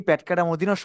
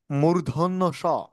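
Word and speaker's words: মূর্ধন্য ষ: তালব বস মূর্ধন্য স অনেকেই আমরা এই বর্ণটিকে ভুল উচ্চারণ করে থাকি প্যাটকা মদিনা স বলে থাকি বরঞ্চ প্যাটকনা মদিনা স হবে না সঠিক উচ্চারণটি হবে মূর্ধন্য স মূর্ধন্য সন্ত অনেকে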